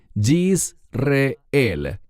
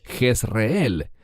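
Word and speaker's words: יזרעאל: Y el Señor le dijo, ponle por nombre, y este es un término muy importante, Yisreel. En español decimos Jezreel. ¿Por qué enfatizo su pronunciación en hebreo?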